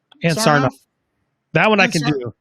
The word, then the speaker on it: Ann Sarnoff: How do you pronounce her name? Ann Sarnoff.